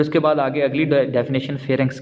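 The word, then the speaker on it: pharynx: इसको आपने फेरेंक्स pronounce करना है।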